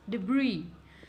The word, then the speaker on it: debris: So moving on to the next word, which is debris. Yes, you heard me right. The S is silent. It's debris.